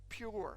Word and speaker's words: pur: year of King Ahasuerus, they cast pur, or pure, some people pronounce it.